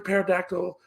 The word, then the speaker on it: pterodactyl: you can't hear a pterodactyl uh go to the bathroom because the pee is silent like she's doing and